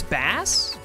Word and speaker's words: Bass: Like it's spelt like the fish. And I think it's pronounced like the fish? Up the slope. Yeah, obviously his name is like based off of the instrument or whatever. But it's pronounced the same way the fish is, isn't it?